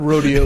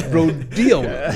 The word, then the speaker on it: rhodiola: Like actually, But It's not rodeo, it's rhodiola.